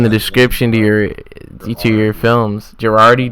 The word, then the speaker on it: Gerardi: Gerardi, did I say it wrong? No, you got it right.